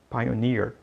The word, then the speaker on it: pioneer: Na verdade, a pronúncia correta é pioneer e a tradução é pioneiro.